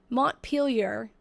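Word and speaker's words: Montpelier: It's Montpielar. it's pronounced, but I was saying Melier because I thought it was French and that's how you would pronounce it in French.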